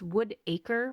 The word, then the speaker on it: Woodacre: which all of these towns that I'm mentioning here, Concord, Whitaker, it's not Whitaker. I keep saying it wrong. It's Woodacre, but it's one word. And when I say it fast, it sounds like Whitaker.